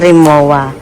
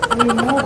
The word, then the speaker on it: Remova: Ang hindi siya remoa. Yes. Hindi siya remoa. Yan. Remova. Ano? Ano siya ang pronunciation? Remova pa ha. Remova. Remova. Remova. Wow. German. German. Pron talaga. So it's remova.